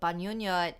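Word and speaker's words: bangungot: listeners thank you buzz does noises um so banyonnyot is the tagalog word for nightmare it's so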